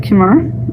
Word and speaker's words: khimar: It uses a khimar, or khimar is another pronunciation there.